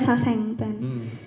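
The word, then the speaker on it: sasaeng fan: Bacanya Saseng fan.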